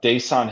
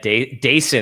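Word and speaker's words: Dasan: Uh, Daan Hill, right? That's how you pronounce that dude's name. Yeah, Dason, actually. It's like Dason.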